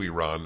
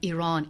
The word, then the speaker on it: Iran: I always ask people, because I've been to Iran and I've been to 130 countries.